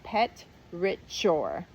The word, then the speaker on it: petrichor: It's if I'm breaking it into syllables, it's petrichor. Petrichor.